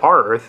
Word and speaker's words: Rearth: to pronounce this company I guessed rear re Earth I had no idea um somebody said R Earth and I thought that sounded pretty good so that's what I'm sticking with our Earth okay here's